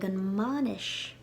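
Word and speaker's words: mbainis: you'll say tamagdal whoa monish i'm going to the wedding the m took over the sound of the b in banish and monish now an exception to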